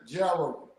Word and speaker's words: Jarrow: again pronounce it okay it's pronounced like AR with a J jro jro all right all right